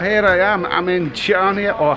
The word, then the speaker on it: Chania: I'm in Chania, or Hania as they pronounce it, in Greece.